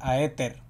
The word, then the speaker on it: Aether: ser hater la verdad y sé cómo se pronuncia pero jeter éter es éter pero todos van a decir oye pero a